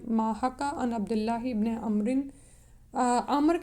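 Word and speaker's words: عمرو: हद्दसना मुसद्दु Cola हद्दसना अबू अवाता अन अबी बिश अन यूसुफा इबने माहका अन अब्दुल्लाह इब्ने अमरिन अम्र के आगे जब वाव लगा होता है ना तो इसका अम उमर या वो नहीं पढ़ेंगे।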